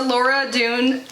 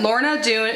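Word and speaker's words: Lorna Doone: And last but not least, we have the Laura Dune, is that how you say it? Yeah, Lorna Dune Shortbread Cookies.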